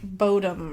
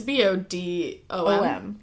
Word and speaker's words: Bodom: And it's So, this is the Lake Bodom murders. I've heard it called Lake Bottom, too, but I'm going to call it Lake Bodom because it sounds better. And it's b o d o m.